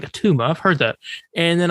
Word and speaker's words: Attuma: Street Fighter? No, not Akuma. Atuma. Attuma. Now, he was a character. I knew I recognized that name. I've never read a comic with him, but I was like, Atuma, I've heard that.